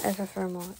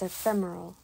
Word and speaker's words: ephemeral: it if a thermal is not epithermal it's ephemeral wow i feel dumb